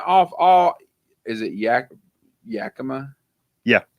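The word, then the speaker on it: Yakima: 100% correct 20% off all is it Yak Yakama yeah Y is that how you say it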